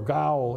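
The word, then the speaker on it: גיל: When God talks about his actions, the word rejoice there is the Hebrew word gil. Gil or gaul is another way to pronounce it.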